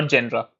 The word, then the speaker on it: genera: Now the second category or texon or texa we will study is genus or I can say plural which is genera or genra depends on your pronunciation.